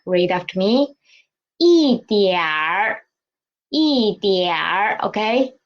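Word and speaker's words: 一点儿: Next one is 一点儿 Okay, we can see here it is a at the end of this syllable, and in the pinyin we can see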